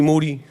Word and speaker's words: Moody: His name is G Moody. That's right. Last name, it rhymes with duty.